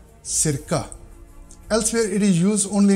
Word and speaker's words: cirka: If it appears in the beginning of Norwegian word before e and a vowel, then it is pronounced like s, as in cirka, cirka.